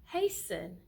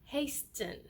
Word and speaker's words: hasten: in your daily conversations so it is hasten and not hastin okay you need to hasten else we will be late not you need to